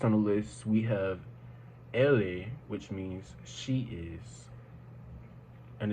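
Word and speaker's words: elle est: next week next on the list we have Ellie which means she is and it's spelled e-l-l-e space EST be careful not to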